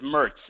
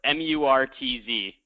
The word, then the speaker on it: Murtz: It's Murtz. M-U-R-T-Z. Murtz. Okay, cool, man.